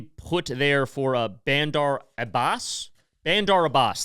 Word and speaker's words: Bandar Abbas: Bandar Abbas, that's how you say it.